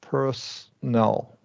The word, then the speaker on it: personal: Personal. So skip O. Personal. Correct. Has to be the Yeah. middle syllable, right?